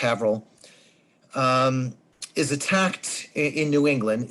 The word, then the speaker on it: Haverhill: village and have it's it's Haverhill but it's pronounced Avril is attacked in New